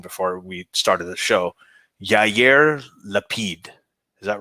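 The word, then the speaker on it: לפיד: Yair Lapid. Is that right, Armin? Did I get it right? Yeah, Lapid.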